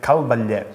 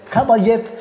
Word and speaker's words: Cal Batllet: the Rin is so so difficult to to pronounce well it is name it calet calet yeah welcome to to to my to my